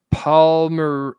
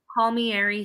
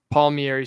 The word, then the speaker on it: Palmieri: So Stafford Palmer, how do you say it? It's Stafford Palmieri Sievert. Palmieri Sievert.